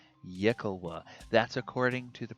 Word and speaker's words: yklwa: has a hard time pronouncing it's called the yikkawa yakuwa that's according to the pronunciation guide they give in d and d beyond so yikkawa is the weapon it has no prior history